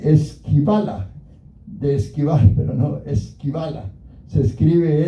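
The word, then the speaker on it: σκύβαλα: De esquivar, pero no esquivala. Se escribe s k y dos puntitos sobre la y b a l a.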